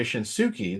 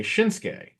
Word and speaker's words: Shinsuke: know and everything but shinsuke Nakamura his name is spelled the same way in terms of like the last several letters obviously the beginning is different but they don't say shinuki they say shinsuke you know so it's